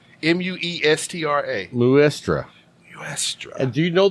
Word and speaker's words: Muestra: Muestra. M-U-E-S-T-R-A. Muestra.